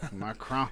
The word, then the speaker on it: Macron: Macron. Macron. That's how you say it.